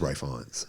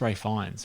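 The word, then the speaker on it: Ralph Fiennes: it's pronounced whatever but who calls Amir Ralph Ray and yes as Ray fans that's Ray fines but I mean look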